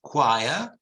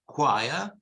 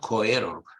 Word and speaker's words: choir: Chile cherry cheese but these words of a Greek origin they're pronounced choir and Chaos choir not coerug or something it's choir